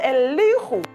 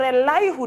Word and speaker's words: Elihu: is one person called a li who or a lie who depending on how you are going to pronounce his name a character that we